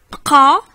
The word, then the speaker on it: bqa: Bqa, bqa, bqa, c'est rester. Donc il y a un qaf, tu vois. Bqa. Si tu ne sais pas le prononcer, ce fameux qaf, j'avais fait une vidéo